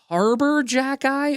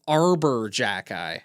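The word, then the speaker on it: Arber Xhekaj: Is it Harbor Jackeye or Arbor Jackeye?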